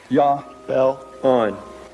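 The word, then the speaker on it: Jahbulon: The name is Jobulan. It is a combination of three words. Jehovah, Baal, and Osiris, the Egyptian sun god. Yah bell on.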